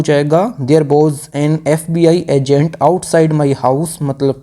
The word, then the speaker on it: FBI: तो यहाँ पे जो FBI की जो साउंड है, जो प्रोनाउंसिएशन है, ये स्टार्ट हो रही है किससे, ये हो रही है वोवेल साउंड से।